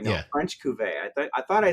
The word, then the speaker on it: Cuvée: Couvray, no, Yeah. French Cuvée.